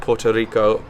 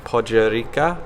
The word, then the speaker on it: Podgorica: Not Puerto Rico, Podgorica. I believe that's how they say it.